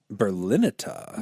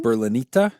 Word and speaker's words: Berlinetta: Berlinetta. Yeah. Berlinita, I believe is how Maybe. that's pronounced because it is Italian.